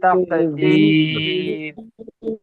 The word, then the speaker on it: تقدير: في تكذيب في في تقدير এটাকেও কিন্তু কফ উচ্চারণ করবে না, এটা কাফ।